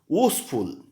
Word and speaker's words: useful: इसका pronunciation vice होता है, यूजफुल।